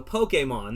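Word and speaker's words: Pokémon: in the south um it's poke and then think about it like this the letter a mon so pokemon that's how you say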